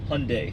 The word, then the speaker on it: Hyundai: not Hyundai, not Hyundai. Hyundai. Pretty much everyone pronounces that wrong.